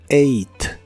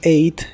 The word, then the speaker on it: ate: el pasado es ate este verbo en pasado se pronuncia igual que el número ocho en inglés eight eight el verbo eight en español puede significar